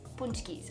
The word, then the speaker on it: pączki: to screw it up today we are making punch keys yes punch keys i know it's spelled really funny in the title but it's pronounced punch keys they are a polish